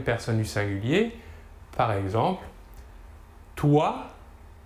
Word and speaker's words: toi: Troisième exemple, si l'on rassemble la lettre O et la lettre I, l'ensemble OI se prononcera OUA. OUA.